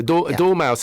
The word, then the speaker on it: dormouse: And although I love cats, a dormouse, I only recently realised it's spelled D-O-R. It's not like door as in the shut the door, please.